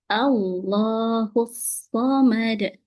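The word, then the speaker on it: اللَّهُ الصَّمَدُ: Tatnya tuh gini, Allah, Allah, bukan Allah, bukan seperti itu. Nah, dipahami ya Bu ya. Jadi gimana cara yang benar? Allahus Samad.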